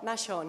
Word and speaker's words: Machon: The pronunciation of your name, the French, Machon. Machon, yes. Okay.